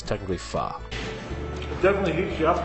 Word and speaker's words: pho: um again notice fah it's spelt p-h-o a lot of people pronounce it foe but it is actually pronounced um so yes for those who called foe it's technically pha it definitely heats you